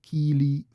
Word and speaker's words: Kili: The stress is a bit more on the first syllable in Neo-Khuzdul. You have Kili, Fili, because it's an extended I there, mimicking the original Old Norse yet again.